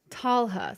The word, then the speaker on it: Talha: Just swapped the L and the H in your pronunciation. And I said Tala before, right? So where did I do it? Talha. So like the H is pronounced.